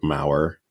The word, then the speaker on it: Maurer: the everlasting white of the Alaskan hill, wrote Maurer.